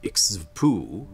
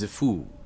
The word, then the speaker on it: Xxiphu: Above one of the highest peaks is where the obelisk-shaped city of Ixvpu, or sometimes pronounced more often just Zifu these days, home of the Kwa,